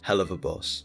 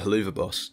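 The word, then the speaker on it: Helluva Boss: gone that just basically highlighted how I mispronounce Hell of a Boss. And I'm still gonna pronounce it Haluva Boss.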